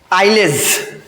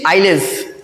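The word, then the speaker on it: Isles: British आइलज S silent है। British आइलेज क्या बोलते हैं? British आइलज। आई एस एल ई एस।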